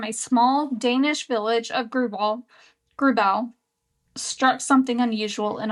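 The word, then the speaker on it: Grauballe: I believe you say Grubal. Grubal.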